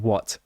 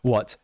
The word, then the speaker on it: what: simple word right right what but the pronunciation changes um you don't pronounce the t often or at least i don't when it's part of a sentence because saying what and